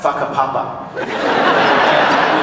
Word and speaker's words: Whakapapa: F-A, I can't remember how you spell it, but it's pronounced Whakapapa.